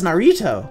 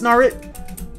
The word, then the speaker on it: Naruto: that's an anime Narito oh it's Narito no it's Naruto how do you how